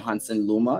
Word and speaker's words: Honson Luma: out to him himself we have here mr hansen luma is that i correctly pronounced the name yeah right and we'll be